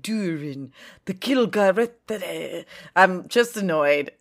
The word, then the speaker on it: Gil-galad: And then when you say it, like, Durin, the Gil-galad, I'm just annoyed.